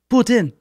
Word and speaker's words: poutine: and if you're French I was told boots in is how you say it if you're French but poutine if you are a redneck from Tennessee John Candy one of the